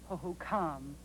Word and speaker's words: Hohokam: I believe that tribe's name is pronounced Hohokam.